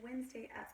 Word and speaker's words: Wednesday: super important tendency and most people don't pronounce when when mistake correctly we say Wednesday when really it's wetness day so we sing song a chanted by the syllables so we can remember how